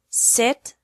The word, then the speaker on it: sit: seat sit and set the secret to making the difference between these three sounds is how much you open your mouth for the e sound in seat your mouth is almost closed for the e sound in sit your mouth is a little more open and for the earth sound in set your mouth is even more open watch me listen and